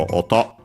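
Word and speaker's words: 音: for noise technically uh actually accented on the uh last syllable. So auto uh so various sounds noises uh then we have the uh subject particle cap.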